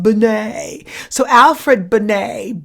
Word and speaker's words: Binet: and it is spelt it looks like it's banette but it's French so it's pronounced Binet so alfred Binet b.i n et al fat Binet I